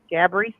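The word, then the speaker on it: Gabourey: You know all those silent letters and whatnot. So yeah, Gabri Sidibe.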